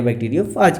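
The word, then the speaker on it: bacteriophage: बैक्टीरियोफेज कहते हैं या बैक्टीरियोफाज कहते हैं, है ना बच्चों। कहीं कहीं प्रोनाउंसिएशन बैक्टीरियोफाज कहा जाता है, कहीं कहीं बैक्टीरियोफेज कहा जाता है।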